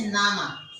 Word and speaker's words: Name: In German, we write the spelling N-A-M-E, but we pronounce it as N-A. We pronounce it as Nama.